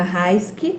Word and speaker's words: Raisky: A nossa convidada da noite, Raiski, é assim que pronuncia o Raiski?